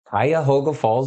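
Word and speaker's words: Cuyahoga Falls: a town if anybody pronunciate pronounce it pronunciate pronounce it it's um Kaya hoga Falls Ohio which is by akan it's north of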